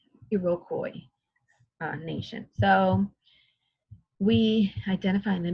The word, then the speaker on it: Iroquois: So number 8, 6 groups eventually became part of in this word, do you know how to pronounce it? Iroquois nation. It's a difficult one, right? Iroquois nation.